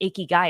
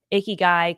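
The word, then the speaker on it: ikigai: word it's not pronounced iy guy it sounds like you're saying a gross guy and I was like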